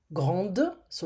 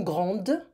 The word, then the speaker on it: grandes: Lou est grande, it's a woman, grande, so remember we pronounce the ending. Lou et Léa sont grandes, so it's not Spanish here, I'm not gonna say grandes, I'm gonna just say grande.